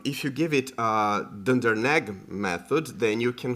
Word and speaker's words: dunder: is the dunder uh Dunder EQ so Dunder is how we pronounce underscore underscore xcore uncore right so